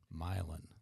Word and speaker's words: Milan: I think they came from, I know how to say it, Milan.